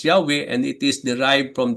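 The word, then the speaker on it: Yahweh: Most likely pronounce Yahwe and it is derived from the word to be no uh to which I am is also related.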